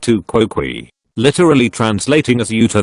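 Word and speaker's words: tu quoque: Pronounced to quoque.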